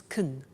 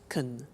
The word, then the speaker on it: can: can speak spanish now notice the pronunciation of can becomes kun she can she can speak spanish he can play tennis we can speak german all right so can becomes con when we speak now the negative form